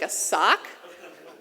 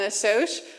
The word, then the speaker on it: assoc: So just an aside, there's 2 ways of kind of pronouncing a soch. There's like a sock and a soch. So just a show of hands, like how many pronounce it a soch? Whoa. Okay, and how many a sock? Oh, for you. All right. All right. So yeah, but either is fine.